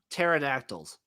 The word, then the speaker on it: pterodactyls: give me a velocirap pterod with the silent p give me the birmingham pterodactyls i don't [ __